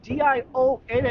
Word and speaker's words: Dionne: Here's number two C Gary Dion. D I O N E. It's pronounced Dion.